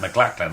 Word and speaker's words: McLaughlin: to podcast with Matt McLaughlin off and he exists his name is pronounced mcLaughlin I mean come on